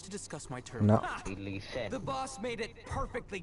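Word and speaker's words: Alhaitham: Me encima se pronuncia Ileisen.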